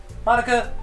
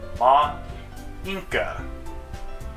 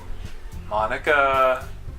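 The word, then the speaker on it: Monika: Ma Inca. I love it! That's not how you say my name at all! Also, that joke makes no sense in translation. Monica...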